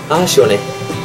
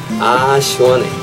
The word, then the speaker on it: 시원해: It goes like 아 시원해, 아 시원해, 아 시원해.